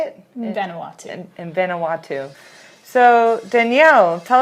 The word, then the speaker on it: Vanuatu: In Vanuatu.